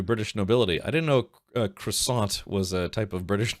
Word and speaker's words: croissant: Uh, it irritates me so much when people pronounce the tea in croissant. Croissanti.